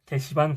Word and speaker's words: 개시반: 절대 욕 아니고요. 발음 조심해야 되고요. 게시반 공부법입니다.